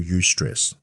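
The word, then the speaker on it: eustress: The short-term stress, the good stress is what we call ust stress. That's spelled E U S T R E S S.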